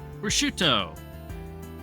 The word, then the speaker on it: prosciutto: Prosciutto.